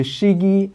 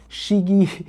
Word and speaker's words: Chigee: my motorcycle enter the shigi I I hope I pronounce it correctly it's c h i g g e e shigi a io5 play before